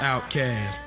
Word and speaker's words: Outkast: Outkast, pronounced outcast.